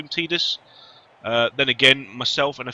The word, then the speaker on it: Tidus: So yeah, that's the way I look at it, and that's the way I pronounce Tidus. So yeah. But it can be said either way. So when people do say Tidus, it doesn't bother me.